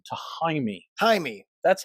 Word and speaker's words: Jaime: Jaime. That's how you pronounce it in Mexican.